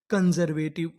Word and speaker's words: कंजर्वेटिव: हम आगे चलते हैं सी यू एन कन एस ई आर इसे यहां पर पढ़ेंगे जर वी ए वे टी आई वी ई टिप पूरी मीनिंग कन जर वेटिव कंजर्वेटिव कंजर्वेटिव कंजर्वेटिव का मतलब होता है रूढ़िवादी।